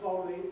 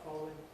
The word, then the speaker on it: following: again with following right if I say the word following in isolation firmly and clearly. I've certainly got three syllables, but when I talk about the following paragraph following, I've dropped out that middle syllable.